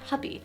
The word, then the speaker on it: Hubie: of a man called hubby which me i'm now realizing may be pronounced hooby he'd be halloween would